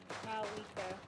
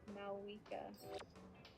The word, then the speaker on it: Mavuika: I always forget that that letter is silent. No, it's not so much that it's silent. I think it's just being pronounced in a different language. Like how a different language would pronounce it. Considering the nation it's based on. Yeah. It sounds like a W almost. Malwika.